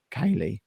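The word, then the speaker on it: ceilidh: of how to play kaylee get involved with kaylee music um if you are reading the website the word that is spelt c-e-i-l-i-d-h is pronounced kaylee i would never have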